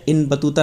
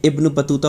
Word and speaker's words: इब्न बतूता: मेरे पैसा थे मैं बाबा क्या हूँ, ये गलत लिख गया, मिसप्रिंट हो गया, इन बतूता नहीं है, इब्न बतूता होगा। ये मैं आपको बता देता हूँ, इब्न बतूता, यहाँ पर आप समझ लीजिएगा, ये होगा इसका प्रोनाउंसिएशन।